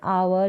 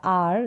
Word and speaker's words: our: इसका उच्चारण आवर या आर दोनों तरीके से किया जाता है, आवर या आर।